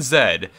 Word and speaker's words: Z: today is called section zed and yes i am going to pronounce it that way for the entirety of this video because i'm canadian and that's just how we say it up here so there's there's nothing